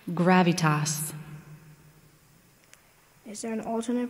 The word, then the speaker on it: gravitas: The word is gravitas. Can you repeat the word? Gravitas.